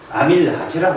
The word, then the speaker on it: 아밀라제: 옛날에는 아제가 붙었거든요. 독일식 발음이라. 아밀라제라고 했어요. 아밀라제. 근데 요즘 이스가 붙어가지고 좀 이상해요.